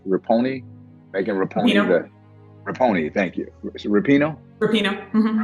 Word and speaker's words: Rapinoe: I think about Megan, is it pronounced Rapinoe? Megan Rapinoe. Rapinoe, thank you.